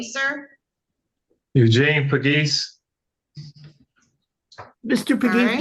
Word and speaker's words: Pagis: So you pronounce it Pagis, right? Pagis, yes.